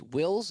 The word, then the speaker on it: Wills: It's Wills and rhymes with pills.